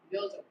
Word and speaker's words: Djoser: Djoser. The D is silent. Djoser.